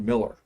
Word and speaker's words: Mueller: was uh uh Dr Miller uh it was spelled Mueller but he pronounced it Miller and he was some